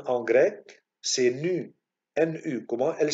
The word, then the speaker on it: nu: On le prononce nu.